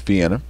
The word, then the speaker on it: Vienna: vienna elementary school but in the rest of the world not scott county it's vienna uh and these guys